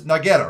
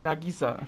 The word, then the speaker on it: Nagisa: place called hell now you said your name was nageta right I am I saying it right Nagisa Nagisa I apologize Nagisa